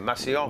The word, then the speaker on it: Massillon: Massillon.